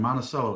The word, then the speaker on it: Monticello: of</b> <b>North Monticello and Monticello is how we</b> <b>pronounce it in Chicago.</b> <b>I also have no